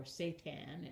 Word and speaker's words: seitan: made of wheat gluten called seitan, or seitan as it's pronounced in other parts of the world.